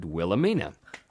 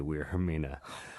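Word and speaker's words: Wilhelmina: I did my line I said Wilhemina and Carl at ocean the director said actually it's weird I mean and I said no clearly it's a Wilhemina but with the Japanese accent but since I am NOT Japanese and now there's a character and we're doing the English dub version I'll just know you have to say we're her Minah yes awful it was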